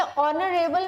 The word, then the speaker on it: honorable: देखिए ऑनरेबल में H silent है तो इसमें वोवल साउंड आ रही है, और जब भी वोवल साउंड आती है हम एन लगाते हैं, ए नहीं लगाते.